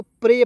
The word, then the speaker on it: prey: ई का उच्चारण ए के रूप में, वाई है, इसका उच्चारण या के रूप में हो जाएगा, प्रे। क्या पढ़ें? प्रेया नहीं पढ़ेंगे, प्रे डायरेक्ट पढ़ लेंगे।